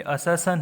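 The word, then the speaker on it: assertion: ये असर्शन है, असर्शन. इसको प्रोनाउंस करना सीखो.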